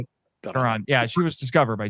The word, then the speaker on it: Caron: Caron.